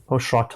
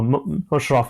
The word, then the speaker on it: Musharaf: many sort of different names, which I've like Mushrat or whatever it is. So I just thought I'd make it clear how it's spelled as well. Yes. So Musharaf, Musharaf.